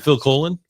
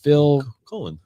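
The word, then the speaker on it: Phil Collen: Is it Phil Coen? No, it's C O L Len, I'm pretty sure. Phil Colen.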